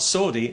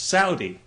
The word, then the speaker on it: Saudi: People have said to me, you know, you're pronouncing that wrong. It's not Saudi, it's Saudi. Well, okay, fair enough.